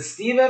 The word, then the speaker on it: Stephen: So Steven, like a V, right?